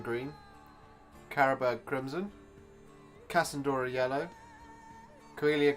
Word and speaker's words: Coelia: Carabag Crimson, Cassandora Yellow, Coelia Green Shade, or Celia Green Shade, how it probably should be pronounced.